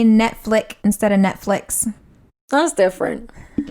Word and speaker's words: Netflix: There's no S at the end of Netflix. It's Netflix. Netflix. Netflix. Yeah, with an X. There's no. Netflix. You're right. There is no S. It's Netflix. Netflix. Flix, like flicks.